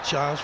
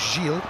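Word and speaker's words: Gilles: child is at Bordeaux checked on the pronunciation of Vanessa GES with the Canadian side I thought it was jeil having uh described her as as that when I've been commentating on bordo this season but apparently it is Giles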